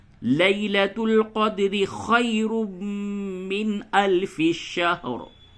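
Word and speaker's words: شهر: لیلۃ القدر خیر من الف شہر. بہت سے لوگ اسے شہر بول دیتے ہیں، تو اس کو احتیاط سے ادا کریں. شہر، ہجے یوں ہوگا، لام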